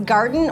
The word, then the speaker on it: Gardyn: had the right pronunciation it is garden and the Y is there because of these y shaped and because they call it a y cup and so that's where the Y comes from but it is Garden